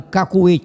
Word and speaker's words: cacoete: Já pronuncia errado, não é cacoete, não é cacoete porque não é C-U, é C-O, cacoete, não é?